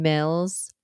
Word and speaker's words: Mills: the month of March my name is Mills it rhymes with bills you know the one